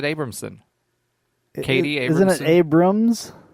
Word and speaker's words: Abramson: You're adding syllables to people's names at this point. Did you realize that? No. It's not Abramson's son. No, I said Abramson.